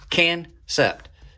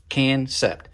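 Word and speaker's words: Kansept: i'm saying it incorrectly if you're going to spell something k-a-n-s-e-p-t i'm going to spell it i'm going to say it like it's spelled can sept can sept if you want to make that a soft a you should have delineated that somehow so all right let's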